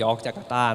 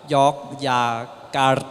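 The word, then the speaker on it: Yogyakarta: ไป ว่า เป็น เมือง ยอร์ค จาการ์ตา นะ ครับ จริง ๆ ออก เสียง ว่า York อย่า กา อะไร ประมาณ นี้ ฮะ ก็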